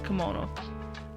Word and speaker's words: Kemono: Many oh my god, is it Kemono? Am I saying it correctly? Because the text is throwing me off. Yeah, it is Kemono.